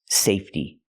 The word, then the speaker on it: safety: fence a safety fence the word is pronounced safety it comes from the word safe and in the word safe the E is silent so when I change it to the word safety the E stays silent and we use a